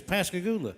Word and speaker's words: Pascagoula: and uh she said how did you say the name of that town we were saying i said it's pascagoula mississippi she said i don't think you're saying it right i said i'm telling you it's pascagoula she said no it's supposed to go look i said no it's pascagoula so we stopped at